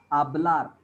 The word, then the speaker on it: hablar: En las que necesitamos It is silent. A is pronounced as hablar.